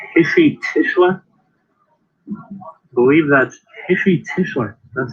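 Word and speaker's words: Heshy Tischler: I believe that's Hishi Tischler.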